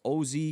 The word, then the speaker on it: OZ: For people calling him Oz, it's OZ. His name is not Oz. But I could see why people would say that, right? But his name is actually pronounced OZ.